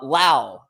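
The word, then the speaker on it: Lowe: well Brandon Brandon well baseball references Brandon L rhymes with now so just just just for for reference see uh but Brandon laau here uh finished third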